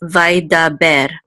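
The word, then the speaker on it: וַיְדַבֵּר: So it's three syllables, vaidaber. And this mircha is the trope or accent mark, and so we know that the accent goes on the last syllable, ber, vaidaber.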